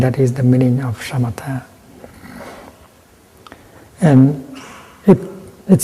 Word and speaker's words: samatha: In Pali, 'samatha', with this you pronounce /shamatha/.